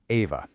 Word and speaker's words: AIVA: So, let's meet Iva, and that's pronounced Ava.